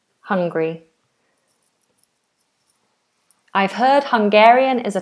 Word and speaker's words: Hungary: Now, if you're saying I'm hungry, then we don't do three syllables. It's two. I'm hungry. I need food. I'm hungry. That's two syllables and um different spelling of course. Hungary.